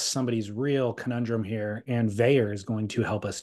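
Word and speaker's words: Vaer: So we've got to address somebody's real conundrum here, and Veyer is going to help us do it.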